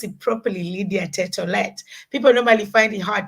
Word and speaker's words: Tett: called my name you mentioned my name or pronounce it properly Lydia tet people normally find it hard to say the